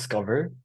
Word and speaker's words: SCOVR: So with that said, share then how your experiences at Amvlet brought you to creating SCOVR. And am I pronouncing it right, SCOVR? So it's pronounced Scover. SCOVR, okay.